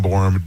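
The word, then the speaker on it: Borham: It's spelled b o r h a m. Google borum.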